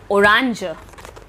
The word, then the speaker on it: orange: Orange. The spelling is same, but the pronunciation is a bit different.